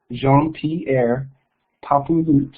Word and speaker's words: Jean-Pierre Papouloute: area so it's pronounced Jean P papul it is a Haitian name not a French name not quite and I